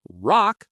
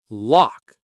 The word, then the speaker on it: lock: That L in lock. Make sure your tongue touches the roof of your mouth clearly. L oak, not rock, but lock.